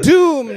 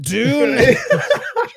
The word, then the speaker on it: Doom: It's pronounced Doom, not Dune.